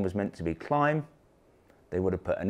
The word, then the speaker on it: Klim: pronounce the brand name apparently it should be climb and not claim I have to say